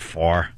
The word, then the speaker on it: Favre: People are mad because I'm not pronouncing the V in Brett Favre's name. How come we don't pronounce it? Not a lot of people say Brett Farre.